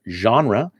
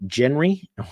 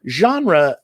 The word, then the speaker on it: genre: english it might be genry but it's we take we took it from french and we retained sort of or pretty close to the french pronunciation of the word genre genre means the category of